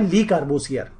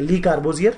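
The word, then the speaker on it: Le Corbusier: जैसे कि अगर हम पंजाब गवर्नमेंट की बात करें, उन्होंने एक आर्किटेक्ट हुआ करते थे फ्रेंच आर्किटेक्ट जिनका नाम है ली कार्बोसियर। क्या नाम है?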